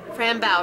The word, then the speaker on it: Fran Bow: finally playing Fran brow Fran bow right that's how you pronounce it like Rambo Fram bow I don't know all